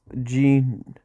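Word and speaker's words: 人: The jin here is pronounced jin. All nationalities, including Brits, love jeans. Okay.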